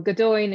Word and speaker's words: Gaudoin: Well, Gaudoin is how we say it, but Gaudoin should be properly.